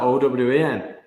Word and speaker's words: Eoin: how you spell it why why would you spell that o w e n that's eoe yeah mine's the proper way to